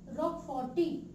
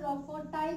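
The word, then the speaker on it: roqueforti: एक fungus responsible है इसकी राइपनिंग करने के लिए, एंड the name of the fungus is Penicillium रॉकफोर्टी, Penicillium रॉकफोर्टी या फिर रॉकफोर्टाई भी इसको हम प्रोनाउंस कर सकते हैं।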